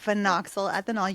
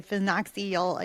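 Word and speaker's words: phenoxyethanol: I was you said you said phoxyl ethanol. You did not see say phoxylola. Yeah. People usually don't say it right.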